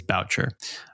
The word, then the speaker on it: Boucher: is his name I it's it's spelled like B like Bobby B but I believe it is Boucher uh he was a